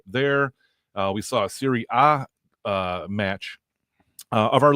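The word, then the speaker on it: Serie A: You you said Siri A. Yeah. Yes. Why Siri A? Uh that's just a you know but the Italian uh pronunciation relegation is a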